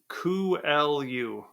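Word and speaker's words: Coelho: kuu so Paulo kuu it's spelled c e l h o so I don't think I would have guessed that um uh it's Portuguese kelu kuu um Paulo kelu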